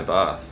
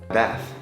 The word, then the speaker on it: bath: A in the middle, Americans pronounce the A the way you would expect, ah. But British people pronounce it more like ah. Listen to how they say this word. Bath.